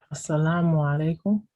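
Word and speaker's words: السلام عليكم: How do you pronounce Adim? Assalamu alaikum.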